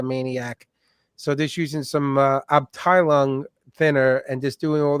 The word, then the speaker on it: Abteilung: And this is just doing the panel liners and with this Abteilung.